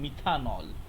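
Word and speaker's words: methanol: যায় এই লাস্টের ইটা আর হয় না, এটা উচ্চারণ হয় মিথান অল অর মিথানল, ঠিক আছে?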